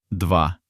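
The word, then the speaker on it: два: The number two dwa dva.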